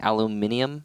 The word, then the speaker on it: aluminum: people can't pronounce it are you talking about people who say aluminium yeah but that's just how the British say it okay there's nothing wrong